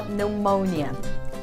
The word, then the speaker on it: pneumonia: A palavra pneumonia em inglês não tem o P pronunciado. Apesar que esse P não é seguido de um S, é seguido de um N, ela também leva o P mudo. Então a gente fala pneumonia.